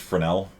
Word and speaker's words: Fresnel: spelled fresnel it's pronounced fresnel for some reason i don't know why maybe it's french or something probably it sounds french um i don't know